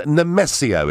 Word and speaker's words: Nemesio: Now, we're going to Maidenhead and Nemesio. Is that the right pronunciation?